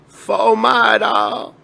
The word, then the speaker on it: Fort Myers: Number 7 is Fort Myers, or how the locals say, Fomada.